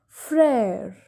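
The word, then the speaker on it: frère: pair which means father prayer prayer which means brother so this excellent this axial graph has the sound of a that is why we are pronouncing mare pair and frere this accent comes on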